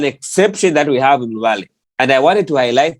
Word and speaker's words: Luvale: So we find that that's why Luvale, it's not Luvale. No. The V is Va. It carries the Va sound.